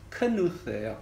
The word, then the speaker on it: Knuth: 근데 어쨌거나 이 창시자 이름이 딘 누스, 크누스예요. K자를 발음 내더라고요. 묵음이 아니라.